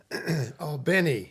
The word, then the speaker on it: Albany: Albany, if you say it properly.